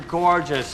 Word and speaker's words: gorgeous: an actor anyway so the first syllable is the long or sound like floor and more Gore gorgeous just the stress is on first syllable so don't say gorgeous